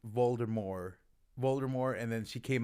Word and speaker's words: Voldemort: years um everybody called voldemort voldemort and then she came out and said the t is silent or voldemort and then she came